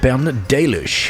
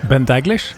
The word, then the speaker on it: Ben Daglish: We also I believe lost Ben Dish if you remember him. Ben Daglish. Okay, maybe that's how he's pronouncing it.